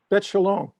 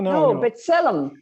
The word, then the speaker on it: B'Tselem: Bet Shalom. Bet Shalom is you mean the village? No. B'Tselem.